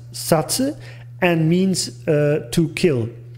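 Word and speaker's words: 殺: it's a kanji and this kanji is pronounced satsu and means to kill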